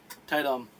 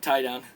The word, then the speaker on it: Tie-dom: Tie-dom. Yeah, I accidentally pronounced it tie down.